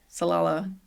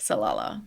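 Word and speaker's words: Salalah: Salala Oman, I think is how it's pronounced. Say that three times fast. Salala.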